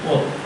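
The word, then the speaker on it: hôtes: In French language it is pronounced hôte.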